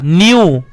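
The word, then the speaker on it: knew: मतलब क्या हुआ हमारा के साइलेंट है के यहां पर दिख तो रहा है लेकिन बोलने में इस्तेमाल नहीं हो रहा तो कि हमारा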